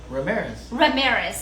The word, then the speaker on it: Ramirez: We're gonna come to you to last name, please pronounce his last name. Ramirez. So I did it right.